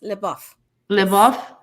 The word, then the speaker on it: LaBeouf: amanda bynes and shia do you know how to pronounce his name yes live off uh and probably we're